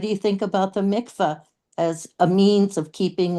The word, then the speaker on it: mikveh: Yeah, but the mikveh or mikvah, or how do you say it in English?